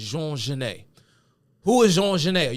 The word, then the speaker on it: Genet: If you look at it, and you try to pronounce it phonetically, you would probably pronounce it Genet. Genet. But the popular pronunciation of this man's name is Jean Genet.